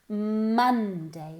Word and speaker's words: Monday: Esta O se pronuncia como una A. Monday.